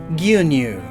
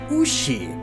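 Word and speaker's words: 牛: when proper it's pronounced USI but depending on context and dialect it can also be simply gu what I'm getting at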